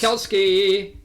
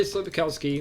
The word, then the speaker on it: Sapkowski: Sapkowski. That guy. Andrzej Sapkowski.